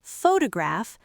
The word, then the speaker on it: photograph: If I say the word photograph, that first syllable is stretched.